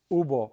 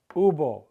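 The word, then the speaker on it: hubo: it's not accurate it's ubo for both singular and plural there was a problem ubo right here the H is silent ubo there were many problems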